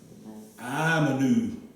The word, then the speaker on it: آمنوا: We pronounce this hamza with as an A, and then we had another alif right here, right? So we said okay? Amanu.